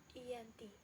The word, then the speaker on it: Janti: lokasi penandatanganan perjanjian yakni Desa Janti dalam pelafalan Belanda sebagai Yanti dan secara tertulis terbaca sebagai ganti tempat tersebut sekarang dikenal